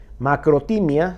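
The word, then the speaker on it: μακροθυμία: Macrotimia se pronuncia, paciencia, longanimidad, dominio propio y calma.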